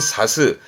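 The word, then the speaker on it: 差す: 뜻으로 읽게 되면 발음은 사스.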